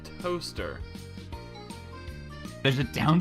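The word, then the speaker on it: Towcester: How would you spell the name of the town pronounced Toaster?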